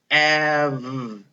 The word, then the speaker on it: have: Look at this E at the end. Do we make a sound for that E? No, it is silent. It does not make a sound. I'm crossing it out because we can't hear it.